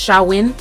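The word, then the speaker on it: Samhain: Celtic Festival which was shamn pronounced shawin um as well as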